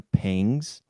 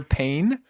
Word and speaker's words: pangs: first the first one I have is hunger pangs. Are you familiar? Pangs. It's not hunger pain. It's hunger pangs, not pain.